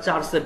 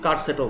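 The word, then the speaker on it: charset: আমরা চার সেট বলি, বাট কেউ কার সেটও বলে। অ্যাকচুয়াল উচ্চারণটা আপনি চার সেটও বলতে পারেন, কার সেটও বলতে পারেন। কার সেটটাই অ্যাকচুয়াল উচ্চারণ, চার সেট কোনো উচ্চারণ নেই।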